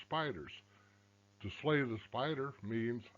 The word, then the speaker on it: SPDR: p 500 they're called s p depository receipts spdrs mispronounced spiders to slay the spider